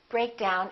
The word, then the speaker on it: break down: I broke the pencil with phrasal verbs we stress the second element which is usually a